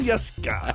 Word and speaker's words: Jeske: I have to admit, I actually spelled his name so that you would pronounce it correctly. Karsten Jeske.